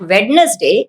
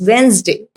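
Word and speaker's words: Wednesday: और इट्स नॉट वेडनेसडे, इट्स वेंसडे।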